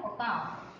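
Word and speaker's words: Ochoa: और कई साइंटिस्ट है, एक साइंटिस्ट का नाम है दैट इज एन ओकाओ, इसका प्रोनाउंसिएशन होता है ओकाओ, ये साइंटिस्ट है, उन्होंने क्या किया था कि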